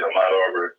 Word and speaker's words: Ahmaud Arbery: I want you to tell us what's happening with this, and correct me if I'm mispronouncing the brother's name, Ahmaud Arbery? That's it, Ahmaud Arbery.